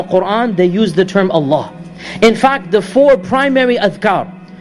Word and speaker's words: Allah: about this name of Allah is that it is the only word in the Arabic language in which the Double L has a special pronunciation typically if the lamb